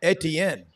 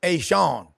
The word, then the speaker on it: Etienne: They say it's not Etienne. They say, Tanner Stein says it's Ashawn. They want to give the Cajun pronunciation.